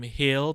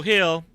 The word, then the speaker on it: Gil: So question 3 came from Hill Pineda _ on Twitter. Hill is spelled GIL.